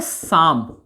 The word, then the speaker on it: साम: जैसे एग्जाम्पल मैं लेता हूं, जैसे देखिए, एक वर्ड है साम, एक वर्ड है शाम। अब देखिए दोनों मिलता जुलता है, लेकिन यहां उच्चारण है ना, उच्चारण कैसे मैं कर रहा हूं।